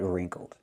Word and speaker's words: wrinkled: And the shirt is wrinkled, not crumpled, but wrinkled. Pronunciation, wrinkled. Make the R sound, r r, plus the long E like green beans, reen. Then make the nasal sound, m m in your nose, reen. K, wrinkled.